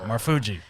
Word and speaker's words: Marfuggi: an i know you said my last name wrong fuji i'm sorry fuji fugi marfuji it's good marfuji like the fuji's fuji yeah marfuji yes